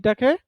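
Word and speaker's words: talk: এখানে কি আছে স্যার টলক হবে না হ্যাঁ এখানে টলক হবে না আমরা উচ্চারণটা করবো ঠক টি টাকে ঠর মত উচ্চারণ করব টিটা কিসের মত করব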